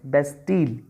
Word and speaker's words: Bastille: what what was bastille the correct pronunciation is best deal bastille was the prisoner